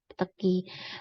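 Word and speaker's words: petechiae: Kemudian ada peteki ya, bacanya ya tulisannya peteki ya tulisannya ya, tapi bacanya peteki.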